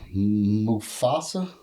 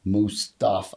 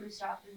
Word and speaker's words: Mustapha: 21-year-old Mufasa.